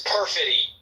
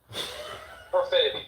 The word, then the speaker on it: perfidy: excusable act, to in any way support this perfidy. I think it's pronounced perfidy. Perfidy, thank you, John.